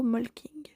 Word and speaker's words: Molching: une petite ville nommée molching que vous et moi prononcerons plutôt molking c'est à cette endroit